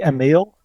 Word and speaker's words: Emil: am i pronouncing that correctly is it pronounced emel hey uh the english pronunciation is a bit different from the dutch or the sweet swedish one where anything is fine really i would say a meal but anything is fine no no not anything